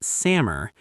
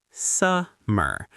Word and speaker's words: summer: And summer, it's not samur, it's summer with a stress on the first syllable.